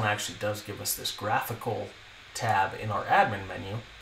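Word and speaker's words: GraphiQL: WP breath I QL so graphical is how I pronounce it and this is a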